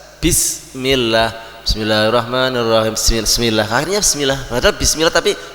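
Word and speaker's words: بسم الله: tangan] Bismillahirrahmanirrahim nah ketika bismillah itu bisnya harus benar-benar tegas bismillah Bismillahirrahmanirrahim bismillah akhirnya bismillah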